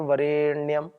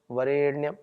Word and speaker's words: वरेण्यम: सभी जल्दी बोलेंगे तत्सवितुर वरेण्यम वरेण्यम वरे ए दीर्घ है थोड़ा सा ठीक से बोलेंगे एक